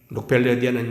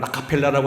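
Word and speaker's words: Rockefeller: 록펠러에 미국 발음을 라카펠라라고 한다는데 여러 가지 시비가 많이 갈라진 사람입니다만 이 사람은 유태인이라고 말합니다.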